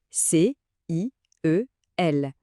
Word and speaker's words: ciel: C I E L.